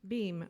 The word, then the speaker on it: Boehm: Boehm, okay, I had it, I'm close, okay.